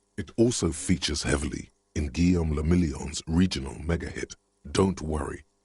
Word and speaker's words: Guillaume le Million: If it doesn't rhyme, you're not pronouncing it right.